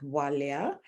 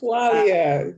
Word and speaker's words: Bwalya: My name is pronounced Bwalya. So the B is Bwalya. almost silent, but not quite silent. Bwalya, kind Yes.